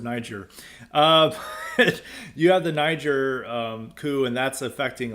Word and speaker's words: Niger: happening in Niger uh no other pronunciation for that but it's Niger uh and those uh Nigeria